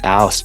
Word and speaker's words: whst: Yeah, whst. It's like house without the H.